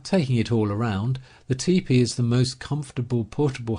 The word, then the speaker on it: tepee: is the Indian lodge or tepee pronounced TP and even it is